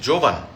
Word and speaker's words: Jovan: জোভান ইজ নট my name, আমার নাম হচ্ছে জোভান। বর্গের জ দিয়ে উচ্চারণ হয় বাংলায়, আর ইংলিশে হচ্ছে জে দিয়ে, নট জেড দিয়ে।